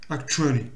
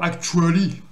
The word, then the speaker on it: actually: Actually. Et en plus, c'est même plus pire que ça. C'est pas actually, c'est actually. Actually. Comme s'il y avait un son che ici. Ça fait ach.